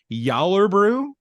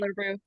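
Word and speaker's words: Gjallarbrú: Yallerbrew. Sure. Sure, why not? Yallerbrew. Yeah. Yeah. The G's are pronounced as J's.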